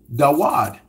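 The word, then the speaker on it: דוד: So, and that's how King David's name is brought out or pronounced as Dawad.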